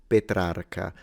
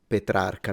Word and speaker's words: Petrarca: name of the poet, he said, and I repeat it exactly, Francesco Petrarca. That is how we pronounce it in Italy, but I'm noticing that he's doing it in a way that usually natives do. So he's closing the E, Francesco Petrarca.